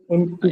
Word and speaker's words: enticed: উচ্চারণ হবে কি? এন্টিড, Enticed. এন্টাইজ।